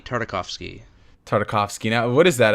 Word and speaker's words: Tartakovsky: of me do you know how to actually pronounce it so I'm not butchering it gindi Tartakovsky tartakovsky now what is that a I'm gonna